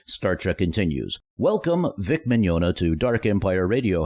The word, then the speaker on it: Mignogna: Uh Mignogna. Uh-huh, or Mignogna, yeah. I I like to tell people think of a filet mignon and a donut at the end. Yeah, Mignogna.